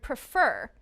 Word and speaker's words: prefer: stressed the second syllable is also stressed in the word prefer can you hear the word stress prefer when the second syllable